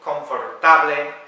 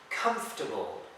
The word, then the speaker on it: comfortable: It's not comfortable, confortable, no. Listen to Robbie V. Comfortable. So you don't have to pronounce the O and the R, you just say comfortable.